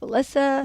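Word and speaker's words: Wałęsa: Now, I heard it pronounced Walesa. Yeah, Walesa. It depends where you. It depends in Poland, where they you say come Walensa. from.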